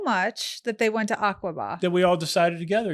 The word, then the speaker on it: Aqaba: Oh, so then they just liked you guys so much that they went to Aqaba. That we all decided together. Am I saying it right? Aqaba? Yeah.